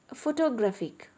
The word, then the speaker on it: photographic: And photographic, the stress is shifted to GRA.